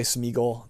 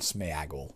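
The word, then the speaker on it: Sméagol: I know a lot of people say Smeagol. The actual word in the book has an accent aigu over the E. The proper pronunciation, based phonetically on what they've written, should be, to my mind, Smeagol. So you'll hear me call him that. It's not Smeagol.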